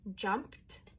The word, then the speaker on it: jumped: Like this one here, jumped. Lots of kids will spell it with a t because that's what they hear, right? So, we have to explicitly teach that ED has another sound and it's t.